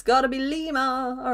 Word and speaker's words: lima: Lima means the number 5, but we pronounce it Lima.